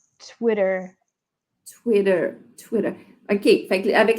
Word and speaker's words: Twitter: OK, fait que si on prononce, fait que si je dis Twitter, ça sonne plus britannique, mais si je veux vraiment parler l'anglais d'Amérique du Nord, je vais dire Twitter.